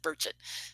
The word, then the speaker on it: Burchett: the same birthday yeah he said burchett so I said I remember to do that not Burchette it's virgin um but uh